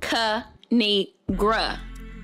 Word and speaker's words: Kinigra: It's pronounced Kinigra.